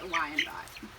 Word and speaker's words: Wyandotte: And I think I said the name wrong to the first one. The first one is a blue laced red Wyandotte.